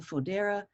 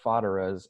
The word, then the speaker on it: Fodera: I get a lot of Foderas or Foderas, and so thank you for saying Fodera.